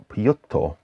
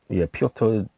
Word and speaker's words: Piotr: It's by, well, I'm going to say it's actually Peter, but it's Piotr, Piotr Damasiewicz, and the Power of the Horns Ensemble.